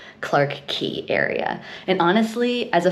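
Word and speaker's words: Clarke Quay: TV working, the area itself, which I've been pronouncing it wrong this entire time and I'm so embarrassed, it's technically called Clark Key Area.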